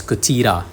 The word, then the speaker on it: Cthylla: So only when you know its Greek origins will you be able to pronounce Cthylla as Cthyra, right?